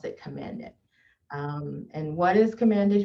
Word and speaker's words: Command It: Well, I want to start with, I am the executive director for Command It, and we pronounce it Command It.